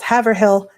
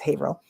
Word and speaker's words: Haverhill: So, his birthplace is maybe 15 minutes away in another town called Haveril, which um people frequently mispronounce as Havhill. Now, you have a Massachusetts insider, so it's Haveril.